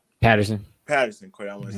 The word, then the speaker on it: Patterson: Is it Peterson or Patterson? Patterson.